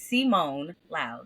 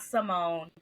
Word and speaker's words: Simone Loud: It is Simone Loud, not Simone.